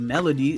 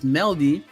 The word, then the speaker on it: Meldy: We do have Melody, because I was pronouncing it incorrectly, apparently behind the stage. You know, I said Melody. It's Meldy versus, I don't know how